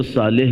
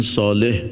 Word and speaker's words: صالح: ایسے اردو میں چونکہ صاد کا تلفظ بہت اچھا نہیں کرتے تو صالح کہہ دیتے ہیں، لیکن صالح عربی میں کہیں گے.